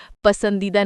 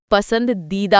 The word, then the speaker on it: पसंदीदा: जेठालाल पहले तो वो पसंदीदा नहीं पसंद दीदा होता है।